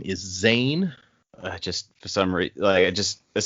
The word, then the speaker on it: Zane: like, Zane rhymes with sane, which is something he's not.